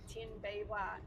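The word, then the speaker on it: Tinbeerwah: Today I am heading out to a gorgeous location called Mount Tim Biwa. So it's pronounced tin like t i n beer like a cold drink and w Mount Tin Bwa.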